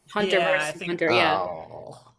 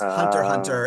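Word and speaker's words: Hunter × Hunter: I believe it's just Hunter Hunter and you don't pronounce the X, but I find that confusing.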